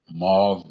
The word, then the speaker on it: M4UVE: But I also have Mauve Music, which is spelled M4UVE Music.